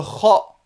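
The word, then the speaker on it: خ: Le kha, d'accord, qui existe dans la langue espagnole, le j espagnol, qui se prononce comme ceci, le kh.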